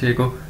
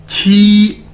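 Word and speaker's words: 七: Chinese के अंदर क्यू असर को हम छ के तौर पर प्रोनाउंस करते हैं, जिस तरह इंग्लिश में सी एच होता है तो इसी तरह उर्दू में छ, ठीक है, तो क्यू भी छ के, छ की तरह प्रोनाउंस किया जाएगा। तो क्यू I mean Q आई को कैसे प्रोनाउंस करेंगे? छी की नहीं, छी छी छी, मतलब 7।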